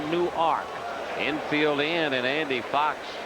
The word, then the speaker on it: Newark: ark delaware new york no new arc any w-a-r-k like newark new jersey except they pronounce a new arc infield in and andy